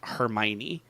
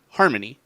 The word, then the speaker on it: Hermione: Uh, I don't know how many people did not know how to pronounce Hermione. Oh. Like I I always read it as like Harmony and then I heard it said in the movie and I was like,